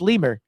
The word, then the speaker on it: lemur: it's spelled it's not it's libra outside it's lemur phonetically it's lemur okay whatever listen if there was